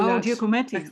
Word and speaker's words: Giacometti: They had at the Kunsthaus they had a whole area on Gualcometti. I'm pronouncing Oh, that Giacometti. Oh, correctly. yeah, yeah, yeah, yeah, yeah. Giacometti, sorry.